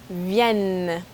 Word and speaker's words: viennent: Je viens, tu viens, il, elle, on vient, nous venons, vous venez, ils, elles viennent. Okay, the last one's weird, right? The ENT wasn't pronounced.